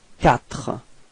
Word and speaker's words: quatre: Q plus U gives you the sound k. Okay, so in this word you get the sound quatre.